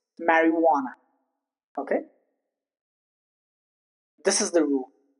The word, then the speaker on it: marijuana: It's not marijuana, it's marijuana.